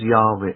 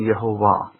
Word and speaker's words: Yahweh: always tell you is in a written format was Yahweh. It wasn't Yehovah.